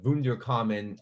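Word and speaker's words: Wunderkammer: would have had this they called the wounder common um for the for the german pronunciation but it was this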